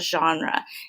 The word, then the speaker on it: genre: purpose, but right here it also talks about genre. And genre is spelled really weird.